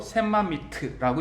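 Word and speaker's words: שממית: 이제 오른쪽부터 왼쪽으로 있는데 맨 끝에 있는 단어가 이제 멜렉 왕이란 뜻이에요.요 맨 앞에 있는이 단어가 히브리어로 샘마미트라고 읽어요.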